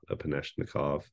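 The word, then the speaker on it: Epanechnikov: wouldn't pronounce the app I think that's how you say it upanishnikov um kernel but you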